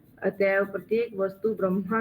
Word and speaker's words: ब्रह्म: उच्चारण प्रभु ब्रह्म होता है। ब्रह्म ब्रह्म परम ब्रह्म। ब्रह्म परम ब्रह्मा ब्रह्मा तो नहीं। ब्रह्मा नहीं है और भ्रम भ्रम भी नहीं है।